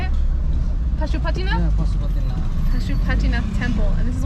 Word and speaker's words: Pashupatinath: Yeah, Pashupatinath.